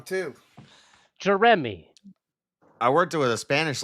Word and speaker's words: Jeremy: Most people just forget that that middle syllable and they're just Jeremy.